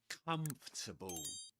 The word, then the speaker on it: comfortable: And again, just like in hierarchy, the main stress goes on the first syllable.